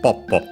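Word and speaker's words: ぽっぽ: And yeah, as expected, is actually accented on the first syllable, as usually is the case for onomatopoeia, so Poppo.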